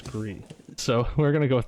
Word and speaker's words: Gris: And do you pronounce it Gree or Gris? Because I say Gree for who won last year. I think it's Gree. I forget. I know someone has told me the correct pronunciation. I'm telling you the correct pronunciation is Gree.